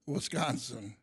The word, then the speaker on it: Wisconsin: Ellsworth, Wisconsin. Yes. With a long O in Wisconsin.